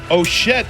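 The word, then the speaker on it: Ochette: that won it was between oet and Cassy oett that's how it's pronounced thank you Cassie put up a good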